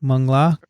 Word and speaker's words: Mangla: So the accent is on the A. Mangla.